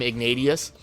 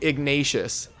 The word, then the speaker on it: Ignatius: learned in my video I've always called him igneous but people love to correct me on my pronunciations which is great and now I know that it is actually igneous or wow I'm so used to saying it that way it's actually ignatius so I'm probably saying